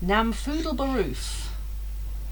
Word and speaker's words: Namfoodle Baroof: name I found of Namfoodle Baroof. I'd spell that. NAM FOODLE Just as it sounds.